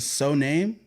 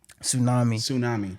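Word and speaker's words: Soouname: Is it So Name? Tsunami. It's Tsunami. Nigga, I can't read sometimes.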